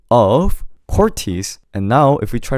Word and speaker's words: CORTIS: Instead of saying CORTIS, you have to say CORTIS. CORTIS instead of CORTIS. You know, English tends to flow things much, and Korean, we tend to cut each syllable. So anything you speak in Korean, try to think of yourself as a robot, and instead of flowing, say CORTIS, 마틴, 제임스. Do you see where I'm coming from? Just cut every single syllable.